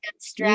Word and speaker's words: Van Straten: Did I pronounce Van Straten? You did. Thank you. Yep. It sounds a little Dutch. I'm not going to lie. It's a lot Dutch, actually.